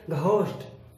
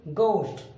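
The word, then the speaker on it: ghost: यहां पर जी के बाद एच आया, हम एच का उच्चारण नहीं करेंगे, और जी के बाद एच अगर हम पढ़ते हैं तो हम इसे पढ़ेंगे घोस्ट। हम ऐसे नहीं बोलेंगे, हम बोलेंगे इसे गोस्ट मीन्स भूत या प्रेत आत्मा।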